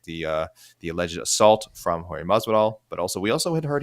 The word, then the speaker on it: Masvidal: Your homework is to learn how to say Jorge's last name correctly. Masvidal. Masvidal. Masvidal. You have to say it like a Hispanic Say it again.